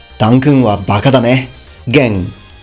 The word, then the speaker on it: Gen: Gen. Again, the Japanese pronunciation of a Chinese character, which you would read yuan.